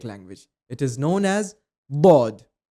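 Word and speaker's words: ض: It is known as Bod. It is also the most mispronounced letter in the Arabic language. People pronounce it as Zod. It is the wrong pronunciation.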